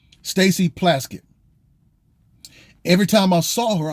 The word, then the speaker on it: Plaskett: her name because it reminded it rhymes with casket stacy plaskett every time i saw